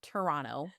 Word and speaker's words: Toronto: It took me a while to drop that second T, Dan, so I get it.